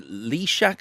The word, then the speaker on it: Lysiak: 9-year-old journalist called Hildy Lyshak, I think. Lysiak is it pronounced? Lysiak, yeah.